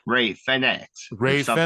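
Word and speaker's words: Fénix: He was like Ray Fenix or Ray something like that. Fenix, because he knows the correct pronunciation of every move and every Oh, wrestler.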